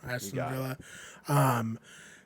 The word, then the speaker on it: Aston Villa: Is that how you pronounce Aston that? Villa, yep. Aston Villa.